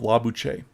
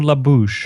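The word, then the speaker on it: Lobuche: the little village of la buche so or la bouche or la bouche as uh it can be mispronounced but and then we'll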